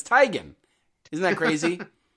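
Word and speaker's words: Teigen: Do you know that we've all been saying uh Chrissy Tegan's name wrong? No, it's Tyan.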